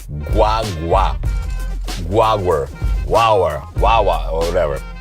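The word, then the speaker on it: guagua: say it right guwa guaga guaga it's almost like G way but fast it's almost like guwa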